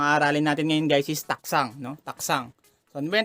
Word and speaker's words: たくさん: Watashi wa Manila de taksang shashin o torimashita. So ito, no? Pinopronounce to guys is taksang, no? Para may silent G, no?